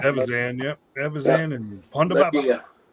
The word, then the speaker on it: Evazan: Evazan, I guess how you pronounce it. Evazan, yep.